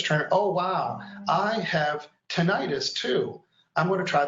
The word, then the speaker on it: tinnitus: Tinnitus, can you tell us about that? Have you worked with that? And am I pronouncing it correctly?